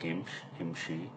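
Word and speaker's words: امشي: The verb Imshi is the same one as in MSA, but but notice the letter Ya stays and fully pronounced like Imshi.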